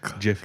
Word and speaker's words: GIF: meme Jiffy. conglomerate. It's a Yeah. Jif GIF and they collab. put a G on it because it's supposed to be pronounced Jif. So next, Would you say GIF Raff, or what's your argument?